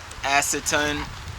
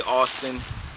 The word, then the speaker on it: AISITIN: out and this is from acetone I always pronounced this wrong so there you go link will be in the description I used to say Austin but yeah so I guess that was the wrong thing to say I actually like